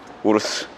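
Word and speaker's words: Urus: 광고해 주는 거 아니야 우리 영상에서 우루스라고 하니까 우루스 아니라고 라고 얘기하더라고 독일어입니다 영어가 아니라 저는 우르스라고 읽어요 우르스 브레이크 플로이드 교환할 때는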